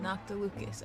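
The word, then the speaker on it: Noctilucous Jade: to obtain some prize noct tocas Jade worthy of a deity noct tocas nocas noct Lucas okay that's how you say it I remember this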